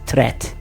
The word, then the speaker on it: threat: ማከም treating the disease ሁለተኛውንም treat ብሎ የሚያነብዙ ሰው አለ treat አንልም ሁለተኛው how do you pronounce this word? It's threat.